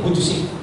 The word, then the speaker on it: Vujicic: Kuntit na maging Vujicic. Ang pronunciation na yun, Nick Vujicic.